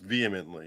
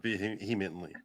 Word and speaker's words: vehemently: i vehemently argued that it's pronounced vehemently not being humanly whatever i don't care